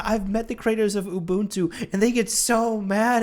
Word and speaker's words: Ubuntu: I used to say Ubuntu, but apparently you that dude. Apparently the proper way to say it is Ubuntu.